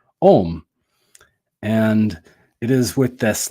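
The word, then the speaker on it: Ogham: language of the trees, which looks like it would be pronounced Oghem, O-G-H-A-M, or O-G-A-M, but it's actually pronounced Om.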